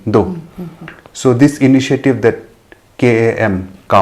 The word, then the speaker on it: KAM: So this initiative that KAM, how do you pronounce that?